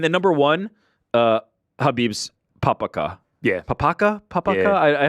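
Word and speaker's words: papakha: walk um and then number one uh habib's papaka yeah papaka papaka I I haven't quite found how to how to pronounce Pap say I just said it wrong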